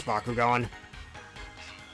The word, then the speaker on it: Bakugan: Anyways, nobody pronounces it like that. It's Baku going.